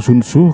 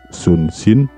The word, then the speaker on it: Sun Tzu: Oh oui, en quelque sorte la bonne façon de prononcer le nom de ce personnage. Certaines personnes appellent ce personnage sun-tzu, certains l'appellent sun-shin, mais certains l'appellent sun-ce. Dorénavant, l'admin suivra celui couramment utilisé, à savoir Sun Tzu.